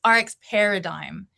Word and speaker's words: RX Paradigm: It's RX Paradigm.